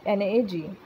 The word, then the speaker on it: NAG: अब ये नाम और नाग क्या है ये नाम और नाग ऐसे प्रोनाउंस नहीं करते, मैं बोल रही हूँ ऐसे, NAM एंड NAG।